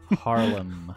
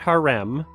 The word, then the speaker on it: Harlem: Harlem. Yeah. Harlem. That's... Not harem. Not haram.